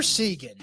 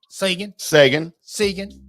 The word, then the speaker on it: Seguin: Or as everyone pronounced his name when he first got to Dallas, Seguin. I was trying to use that. Yeah. I couldn't remember it. Seguin. Well, because there's a Seguin, Texas. Right. That's spelled just like that.